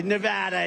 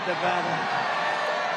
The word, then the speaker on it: Nevada: And you always have to say it correctly. Nevada. You got to call it Nevada.